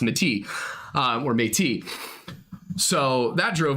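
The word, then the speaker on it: Métis: and European and we referred to them as Mati.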